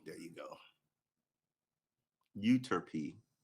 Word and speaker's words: Euterpe: Pronunciation. There you go. Euterpe. Euterpe.